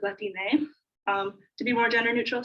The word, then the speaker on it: Latine: And so in Spanish and in Spanish communities, often it's pronounced with an E at the end, so it's Latine, to be more gender neutral.